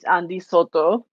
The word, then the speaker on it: Andi: Andy all right uh my name is andyo that that's the real you know the correct pronunciation in Spanish I'm from Panama and